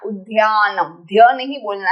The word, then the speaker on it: Udyanam: Not Udyanam. Dhya नहीं बोलना है, दया बोलना है. Udyanam.